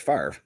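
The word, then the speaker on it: Favre: pronounce Brett fav yeah the r and the V are reversed because it's pronounced far at least that's how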